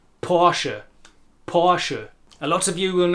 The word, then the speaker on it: Porsche: And talking of word endings, for a long time the German brand name Porsche was known as Porsche in the English-speaking word, until we realised that it also has two syllables. Porsche.